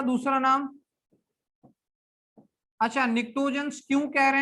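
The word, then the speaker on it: pnictogens: निक्टोजेंस, P silent था, निक्टोजेंस।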